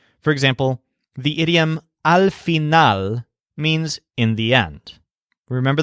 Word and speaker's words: final: thinks about this nail his word for end is phenol so it's spelled just like the English word final but the stress is on not like nail phenol for some reason this